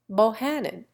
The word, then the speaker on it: Buchanan: Buchanan, Bohannon. Drury, Droit. Enruti, Darby. And Taliaferro, Tolliver. The English Crown and Shields pronounce every syllable of their name.